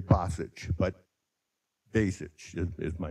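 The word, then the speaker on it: Basich: thank you yes uh my last name is pronounced in many different ways but it's actual actually basic be a it's b-a-s-i-c-h but b-a-y is kind of a good way to think about it if you're my brother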